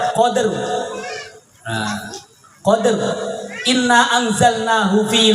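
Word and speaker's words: قدر: lailatil Qadr lailatil Qadr cara baca kalau di Bua Qadr tafhim sambil belajar ya ro dibaca tebal Qadr nah Qadr inna anzalnahu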